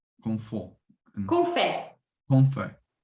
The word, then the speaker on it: fait: Qu'on fait. Ouais, A plus I, je prononce E.